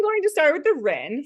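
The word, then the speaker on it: Rinne: to start with the ren sometimes called the Ry or the Renny I've heard it pronounced either way I say the ren or the Rind so this tests for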